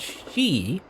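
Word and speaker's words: し: can be pronounced as she, which is a what do you call it? Phone, I think, something like that. Basically it sounds the same as death in Japanese, so that's why 4 is kind of like an unlucky number.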